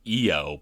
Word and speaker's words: Io: Jers and booze to Cameron uh it's actually pronounced eio but the word is spelled i o so it's EO saturnalia not low satalia for shame camera that's um yeah I